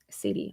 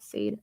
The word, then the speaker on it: Sade: Sadie, I'm sure that's how you pronounce her name, not Sade. I'm dumb.